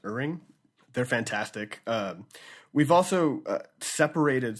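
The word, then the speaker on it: Ihrig: Chris Dickinson and Colin, I think it's pronounced Uring.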